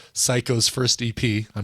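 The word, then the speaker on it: Sycco: an artist but she goes by the name psycho and it's spelled s-y-c-c-o why you may ask well it's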